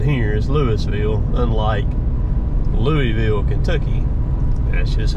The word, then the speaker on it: Louisville: Louisville Mississippi that's how it said here is Louisville unlike Louisville Kentucky that's just how they pronounce it here just just the way it